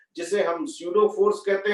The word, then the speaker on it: pseudo: हाँ, P spelling क्या होती? PSEUDO, स्यूडो, FORC, force. स्यूडो force है ना, एफ से चालू नहीं होता स्यूडो, है ना, सभी जानते हो कि पी से चालू होता है।